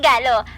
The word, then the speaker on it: Galo: Ako si Galo, rhymes with Gago, at ito ang buhay ko.